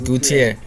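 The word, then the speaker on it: Gautier: It's a French last name. My parents gave me a Mexican. French name, Gutier. When the ladies pronounce it, it sounds sexier. It's like Gutier. Where are you from? You said it in French way.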